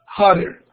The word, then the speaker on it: hotter: Una cuestión que hacen los americanos o los estadounidenses al pronunciar esa T es que suena como una R. Entonces, en lugar de pronunciarlo como hotter, se pronuncia como hotter.